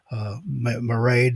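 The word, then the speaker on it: Mairéad: I call her mermaid because it rhymes with Maraid. That way I can read. It looks like Mareed to me too. Maraid.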